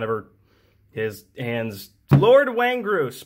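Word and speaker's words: Windgrace: sorts coming out of her his hands lord waeng gross pronounced exactly like that yeah lord when grace is a duck i built when the card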